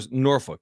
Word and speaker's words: Norfolk: it like the Cur norfol if you're from there you say it like the curse norfol norfol oh that's tough